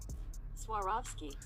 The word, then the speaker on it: Swarovski: Air Jordan one retro that I'm going to butcher the name so this is how you say it actually Swarovski Jordan 1 high is releasing in the summertime